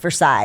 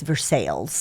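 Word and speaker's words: Versailles: Balo we got a verses Kentucky it's not pronounced Versa it's vers sales oh my gosh yeah there's a not a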